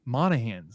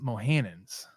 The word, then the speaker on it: Monahans: out how to say it's it's Monahans not mohanan's anyways put the empasis on the wrong salel yeah yeah they're just